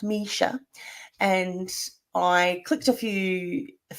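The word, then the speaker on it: Mischa: on the link Misha by the way it's pronounced Misha and I clicked a few a few links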